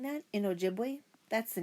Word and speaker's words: Ojibwe: You say it like this. Ojibwe. See? Ojibwe.